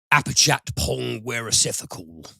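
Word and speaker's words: Apichatpong Weerasethakul: got memorial this is the latest movie from apachat pong wearacepha call yes i was wondering how you were going to pronounce that and i think that's absolutely that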